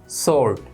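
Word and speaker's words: sword: इसका प्रोनाउंसिएशन होता है सोर्ड। क्या बोलते हैं? सोर्ड। इसमें डब्ल्यू साइलेंट होता है।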